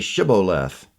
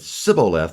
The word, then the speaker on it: Shibboleth: If he said no, then they said to him, "Now say Shibboleth." And he said Sibboleth, for he couldn't manage to pronounce it right.